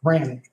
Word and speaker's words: Rannick: The successful bidder, and it's probably pronounced one of 2 ways, Rannick or Rainick. I'm not sure. Rannick. Rannick? Yep.